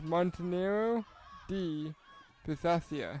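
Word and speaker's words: Montenero di Bisaccia: that town in Italy it's actually pronounced in three separate words montenero D Basia ah that makes more sense so three words Monero D Pia that's where Jessica cero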